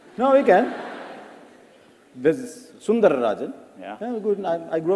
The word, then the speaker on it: Sundararajan: No one could pronounce it, yeah. No, we can. This is Sundararajan.